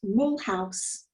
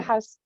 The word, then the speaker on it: Mulhouse: You were born in, I don't know if this pronunciation is right, Mulhouse. That's the English pronunciation, yes. Yeah, Yeah. Mulhouse.